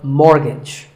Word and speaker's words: mortgage: The first syllable is more and the second is gidge, so mortgage.